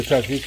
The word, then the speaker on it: tzatziki: It's kind of hard to pronounce it, but it's Tzatziki.